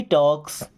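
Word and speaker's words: talks: ही टॉक्स strange things. He means वह टॉक्स। देखिए L silent है ना?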